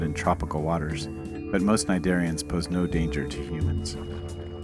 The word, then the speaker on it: cnidarians: All of these scyphozoans are cnidarians, the C is silent, relatives of sea anemones and corals.